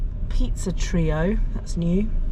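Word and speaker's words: Treo: Um but yeah, it's exciting to go home on a Friday anyway, let alone be like pizza trio. That's new. Trio spelled T R E O.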